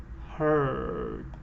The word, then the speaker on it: heard: Heard.